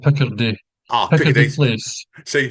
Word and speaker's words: Picardy: It's called Picardy, Ah, Picardy Piccadilly. Place. See, people know the Nicholson or Andy N pronunciation skill is crap as Yeah, always.